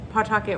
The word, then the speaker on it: Pawtucket: in pawtucket rhode island i said pawtucket but we don't really pronounce it pawtucket but i figured if you were not from the area and you were like oh i wonder where pawtucket rhode island is and you like tried to google it and i said it the way we pronounce it you may not find it which it's pawtucket but there's a w in there if you were like